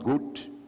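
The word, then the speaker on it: קוט: c'est le mot hébre goûte gûte enfin se prononce goûte mais sécrit Q WT s c'est-à-dire ce mot veut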